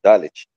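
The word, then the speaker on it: דלת: É Dalet, se não me engano, acho que é essa a pronúncia, né? Dalet.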